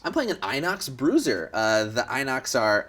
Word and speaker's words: Inox: I'm playing an uh is it pronounced Inox yes I'm playing an Inox Bruiser uh the Inox